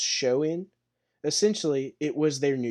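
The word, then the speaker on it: Samhain: The Celtic festival um pronounced showin.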